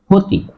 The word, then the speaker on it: ক্ষতি: শব্দের প্রথমে আছে কিন্তু উচ্চারণ কও হবে না মূর্ধন্য সও হবে না উচ্চারণ হবে হ কি হবে খ উচ্চারণ হবে তাহলে উচ্চারণ হলো ক্ষতি দেখো খ হয়েছে কিন্তু